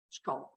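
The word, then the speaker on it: scaup: well as probably a bit more of a pronounced neck. Lesser scallop, S-C-A-U-P, scallop.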